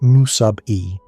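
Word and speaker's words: μe: Another important term is the chemical potential, symbolized as Me, pronounced mu sub E, which is a thermodynamic property.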